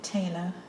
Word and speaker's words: Phthalo: It's Phthalo, and people pronounce it differently, but my watercolour teacher was British, and she liked Talo colours as well, and she always pronounced it Talo.